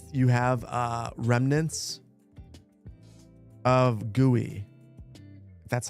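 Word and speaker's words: GUI: My guess my guess is you you have uh remnants of gooey. That's how you pronounce it left in your build.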